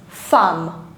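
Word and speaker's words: femme: is very very mispronounced I've seen a lot of students pronouncing this word as fem it's not fem it's fam ah you need to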